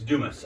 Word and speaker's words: Dumas: It's Dumas. I pronounced it wrong when I stopped at the gas station.